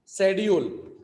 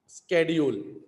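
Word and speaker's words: schedule: number four speaking में British speaker pronounce the word शेड्यूल क्या बात है शेड्यूल it began with S से स स स स स शेड्यूल मीन स वाइल अमेरिकन प्रोनाउन स्केड्यूल क समझ में आया समझ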